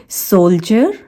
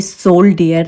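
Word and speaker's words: soldier: वो for example यहाँ पे मैंने लिखे हैं, जैसे सोल्जर, ये सोल्डियर नहीं है, ये है सोल्जर।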